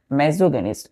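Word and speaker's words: misogynist: इसका प्रोनाउंसिएशन क्या करते हैं हम लोग? मेजोगेनिस्ट। देखिए बच्चों यहाँ पे हमने क्या लिखा है? MISO, लेकिन जब प्रोनाउंसिएशन क्या करेंगे तो क्या होगा वहां पे? MASSO। तो मेजोगेनिस्ट बोलते हैं। प्रोनाउंसिएशन में हम मेजोगेनिस्ट बोलेंगे और लिखते टाइम हम क्या करेंगे?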